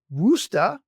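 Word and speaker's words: Worcester: partner in private practice in and this is pronounced wusta Massachusetts and is transitioning to a direct care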